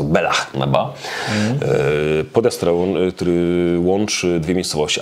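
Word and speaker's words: Bealach na Bà: Ja zaszczytałem Bilicz na Ba, się okazuje, od kolegi się dowiedziałem niedawno, że to nie czyta się Bilicz, tylko po szkocku jest to Belach na Ba.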